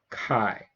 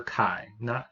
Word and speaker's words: chi: Okay, this right here is the Greek letter chi. Okay, that's the Greek letter chi, not chi or chai, chi. That's how you pronounce it.